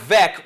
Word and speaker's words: Veeck: Mike Vick rhymes with rec.